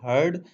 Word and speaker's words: heard: इसके लिए हम इंग्लिश में बोलेंगे आई हर्ड it from हरी, आई हर्ड, HEARD इसको हम प्रोनाउंस करते हैं हर्ड।